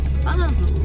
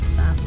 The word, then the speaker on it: Basel: We are now at Basel, not Basel.